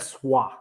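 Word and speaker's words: soie: covered in snow uh pronounced swa swah oh oh my god lily connect she knows french obviously pronounce wha so it's 100 sua not silk but if it says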